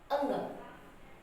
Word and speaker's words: ङ: क, ख, ग, घ, अंग।